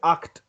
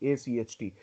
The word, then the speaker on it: acht: Let's say the word is act. Act. ACHT. Exactly. ACHT.